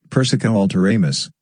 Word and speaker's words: persica alteramus: transfigure into a peach persica alteramus emphasis on first syllables only don't expect to